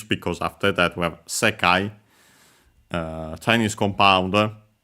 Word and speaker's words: 世界: Here these, because after that we have sekai, Chinese compound, accent on the first more, this one, word, this word, can also be society, universe.